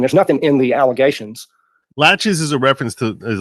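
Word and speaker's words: laches: nothing in the allegations latches is a reference to is a legal term it's a reference to delay it's spelled like the word latches but with no t in it and it's a reference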